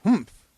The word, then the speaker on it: humph: reading this story aloud please pronounce humph exactly as it is spelled for that is how he said it hum do you know